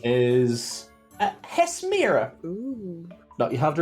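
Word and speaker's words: Hesmyra: Hesmira. Hesmira. Oh, It's spelled H-E-S.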